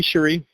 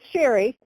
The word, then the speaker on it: Cherie: Hey, Cherie. Well, it's Sherry. Sherry. Hi, Oh, Sherry. Sherry, how Sherry, you which doing? I said Sherry, so I know it's spelled funny.